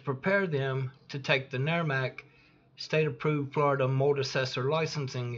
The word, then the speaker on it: NAE-RMC: For over 10 years, NAE-RMC pronounced NERMAC has been providing the most comprehensive, up-to-date mold assessor training available, bar none, and it's always free.